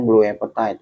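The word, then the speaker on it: blue apatite: ya blue apa tite tulisannya begini blue Apa tite iya dibacanya blue aptite ya Nah ini ya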